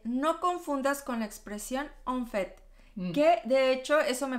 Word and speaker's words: en fait: Bueno, ¿cuál es la diferencia entre las dos en pronunciación? Es que tienes au fait, es una au fait, que es por cierto, y en fait, que es de hecho. En fait. Y en fait, tienes la boca más abierta, es el sonido de la A nasal.